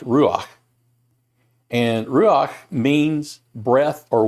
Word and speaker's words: ruach: has a hebrew word attached to it that's pronounced ruach and ruach means breath or wind last week